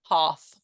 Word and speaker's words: half: half turn yeah better so it's almost spelled like a h a r f half start yes brilliant um